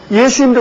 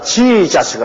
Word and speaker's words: 예수: 근데 이 미국 사람들은 자기들 발음에 맞춰가지고 지자스를 합니다. 예수님하고 지자스하고 얼마나 다릅니까? 아마 예수님도 오셔서 저거 누구 보고 하는 말이냐? 그렇게 하실 겁니다. 완전히 발음이 다르다고요.